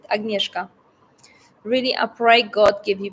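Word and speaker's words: Agnieszka: I am from Poland my full name is agneska that's how you pronounce it agneska really aay God give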